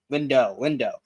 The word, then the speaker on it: Lindo: Is it Lindo or Lindau? I always say it wrong. Lindo.